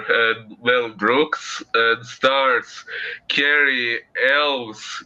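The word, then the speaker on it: Cary Elwes: well Brooks and starts Carrie elves if that's what it's pronounced like yeah you said it right uh okay uh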